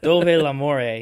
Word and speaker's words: Dov'è l'amore: I actually should have known that how it's pronounced as soon as I hit play on the song. I was like, oh yeah, she literally says Dov'è l'amore. Yeah, it's very clearly right there.